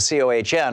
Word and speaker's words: Cohen: with Michael Cohen, and C-O-H-E-N instead of C-O-H-N, although Michael Cohen started pronouncing his last name Michael Cohn just to please Donald Trump, and then Michael Cohen